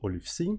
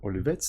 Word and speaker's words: olive.c: So here we have a very simple demo for a very interesting library which is called Olivec or Olivets, depending on how you want to pronounce it.